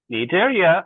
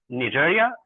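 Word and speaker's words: Cnidaria: Uh uh uh Nidaria, C is silent here.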